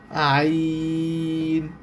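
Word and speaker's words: عين: আইন। এইযে অক্ষরটা দেখেন। শেপটা ভালো করে। এই অক্ষরটার নাম হচ্ছে আইন। এই অক্ষরটার নাম হচ্ছে আইন। উচ্চারণটা ভালো করে খেয়াল করেন। এই অক্ষরটার নাম হচ্ছে আইন।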